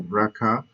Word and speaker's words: BRCA: genes DNA repair genes like the braa brca know stand which stands for breast cancer one and ca2 so braa braa one braa 2 that's actually that's usually how it's pronounced they help to maintain